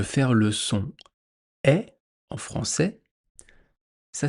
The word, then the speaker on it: français: Donc dans un mot en français, quand vous avez A-I, ça se prononce est. Comme dans le mot français. Français, est, français, français.